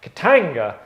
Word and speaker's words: Katanga: Remember, Katanga, say it like that.